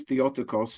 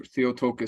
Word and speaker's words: Theotokos: key phrase or title was theotokos or theotoka sometimes people pronounce it probably incorrectly uh which means um